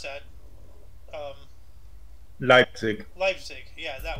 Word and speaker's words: Leipzig: same time Fran Schubert's Misa solomoness premiered in leave speak or I can't pronounce that um Leipzig Leipzig yeah yeah uh asusion fell to